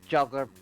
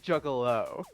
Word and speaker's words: Juggalo: I want nothing to do with the juggler piece of shit and whatever the hell you are. Juggler? He lifts an eyebrow. Solix, it's pronounced Juggalo.